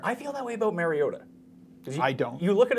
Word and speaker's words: Mariota: You pronounced his name wrong, by the way. I'm sorry, how is it? Mariota.